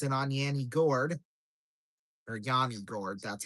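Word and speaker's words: Yanni Gourde: Moser feeds it on Yanni Gourd or Yanni Gourd.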